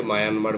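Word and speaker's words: Myanmar: স্থবিরবাদ বা বিভাজ্যবাদ বহির্ভারতে প্রসারিত হয় এখনো শ্রীলঙ্কা মায়ানমার মায়ানমার আমরা বলি বটে কিন্তু একচুয়াল প্রোনাউন্সিয়েশন মিয়ানমার তো ওরা মানে আমরা যেমন মানে ভারতকে ইন্ডিয়া বলি ইংরেজিতে তো মিয়ানমার শব্দটা কাইন্ড অফ মানে ইংরেজি ভার্সন ওরা নিজেদের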